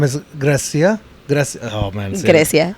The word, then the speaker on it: Grecia: Grecia. I said it. Did I say it right? You did. You said it right.